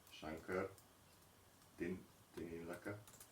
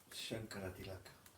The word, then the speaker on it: Shankaratilaka: Ő a Swami Shankar Tinilaka. No. Shankaratilaka. Shankaratilaka.